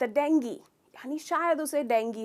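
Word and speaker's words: dengue: को भी, पर अफसोस इसका करेक्ट प्रोनाउंसिएशन है डेंगी। तो ग्यू नहीं है, ई साउंड है। ट्राई कीजिए, डेंगी। तो इसमें आप स्ट्रेस करते हैं डेंग पर और कहते हैं डेंगी।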